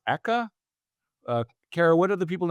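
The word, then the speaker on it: ECCA: things to know about, I think it's pronounced Eka. Kara, what are the people in DC calling the $5 Right. billion choice bill? Exactly. Eka.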